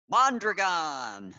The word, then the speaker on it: Mondragon: Maybe you can help me out with the pronunciation. Mondragon.